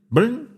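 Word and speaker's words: Byrn: M L how would you pronounce that? B Y R N. B Y R Brin. Okay. ML Brin patents a covered gimlet screw with a tea handle, more popularly known as a corkcrew.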